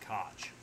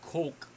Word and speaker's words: Koch: was saying it wrong i thought it was heckler and koch but it's not it's coke okay so that that is